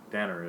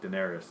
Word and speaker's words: Daenerys: things people hated was I can never say her name right Danner is Daenerys Daenerys there is Daenerys